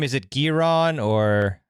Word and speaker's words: Giron: And how do you pronounce his last name? Is it Giron or how do you say it? Yeah. Giron.